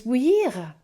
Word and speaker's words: bouillir: What is bouillir? Difficult to pronounce. It's got the ou sound in, and the I-double-L is a y sound. So go ou, y. And then the ending is ear.